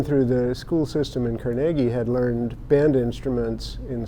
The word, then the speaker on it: Carnegie: which was carnegi Pennsylvania and uh which is pronounced carnegi by Andrew carnegi not Carnegie as they say in New York uh and